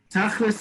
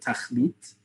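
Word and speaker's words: תכליס: Tachlis, you've probably heard a lot. Tachlis sounds like Yiddish. It's not. It's the Ashkenazi pronunciation of the word tachlit.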